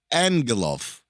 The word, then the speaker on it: Angelov: By the way, not to be a stickler, but if it's an Eastern European name, it would be pronounced Angelov.